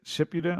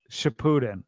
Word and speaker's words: Shippuden: Is it Shippuden? I It's still don't know how to say it. Shippuden. Shippuden.